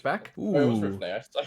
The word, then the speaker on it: Rivne: Oh, it was Ooh, Rivne.